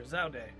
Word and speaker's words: Zaude: the enduring Shrine of Zaude. Is that how you would have pronounced that if you looked at that word? Because even as a kid, I would have said Zaud. But sure, Zaude. Why not?